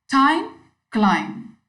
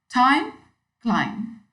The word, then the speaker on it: climb: Again, most of us pronounce climb as climb, with the last B clearly audible, whereas it is a silent letter. So we should not pronounce B. It should be climb.